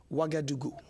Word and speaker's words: Ouagadougou: Ouagadougou.